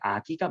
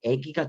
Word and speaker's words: 아기: 그래서 우리 그 표준어도 할 거니까 표준 발음 인정되지 않는 게 아기가 맞아. 우리 요 뒤에 있는 이 모음의 영향을 받아서 얘가 요렇게 애기가 되기도 하는데 얘는 표준어로 인정되지 않는다라는 거예요.